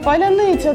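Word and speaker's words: паляниця: яке таке слово українське яке росіяни не вміють вимовляти поляниц Поляниця так і це був дуже модний пароль перші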